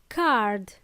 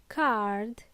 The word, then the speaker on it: card: First word, card. Card. It's not car, it's card. Please pronounce the last letter in this case. Card. Last letter D.